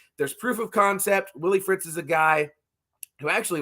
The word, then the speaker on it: Willie Fritz: Former Tulane head coach, and I want to make sure I'm not saying his name wrong because that would be very embarrassing. Is it Willie Fritz? Yes, it's Willie Fritz.